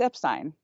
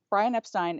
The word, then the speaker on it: Epstein: First of all, there's a whole charge about pronouncing it Epstein. The correct way to pronounce it, it's Epstein. Brian Epstein is the correct way to pronounce his last name.